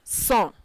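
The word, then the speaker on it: cent: disnerf then 100 is sun c-e-n-t that is pronounced sun this is where sanctuary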